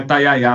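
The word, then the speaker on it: Tayayá: seus dias lá no É taiá ou taiiaá? Olha, é taiá. A gente teve esse debate, eu e a Valentina Moreira, que que estávamos cobrindo essa história sobre como pronunciar, mas é pelos funcionários, pelo que os funcionários disseram, é taiayá mesmo.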